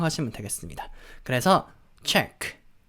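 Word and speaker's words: Czech: 같은 그런 느낌은 아니죠 체코는 어떻게 발음 하냐면 체코 라고 하는게 아니라 챗 z 최 이렇게 바람 하는거예요 약간 우리 체크 약간 그런 느낌이 난 거의 비슷한 발음이 라고 향 아시면 되겠습니다 그래서 책 책 그래서 스 그런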